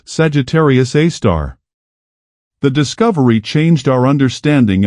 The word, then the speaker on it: Sagittarius A*: and they named it Sagittarius A asterisk, pronounced Sagittarius A star.